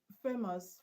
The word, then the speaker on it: famous: Famous. Famous is a surface. Okay. The stress is on FA.